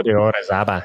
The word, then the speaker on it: Pico de Orizaba: I don't even know how to say it, Orizaba in Mexico? Pico de Orizaba, yeah.